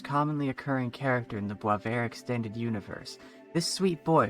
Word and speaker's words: Boisvert: Oh, and by the way, it's pronounced Boisvert, not Boisvert, at least I think.